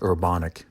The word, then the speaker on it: Urbanek: guest on the podcast robert's last name is pronounced urbanic and it's spelled u-r-b-a-n-e-k he grew up in